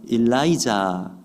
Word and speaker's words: 엘리야: 다연 엘리사가 수제자 격입니다이 엘리야 엘리사는 히브리어 발음을 우리 한국어로 그대로 옮긴 것이기에 히브리어 발음과 비슷합니다 영어식으로 표현하면 어떻게 읽어요 엘리야는 일라이자 엘리사는 엘라이사 이렇게 읽더라고요 그러니까 비슷합니다 영어로 읽어도